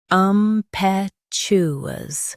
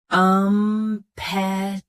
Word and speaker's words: impetuous: Impetuous. Both US and UK have the same pronunciation of this word. Stress pe. Keep chew smooth, not shoo. Impetuous. Impetuous. Stress pe. Keep chew smooth, not shoo.